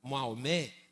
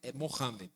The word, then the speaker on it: Mohamed: A gente fala Maomé, mas é porque a gente português, mas não é Mohamed. Esse é o jeito certo de falar.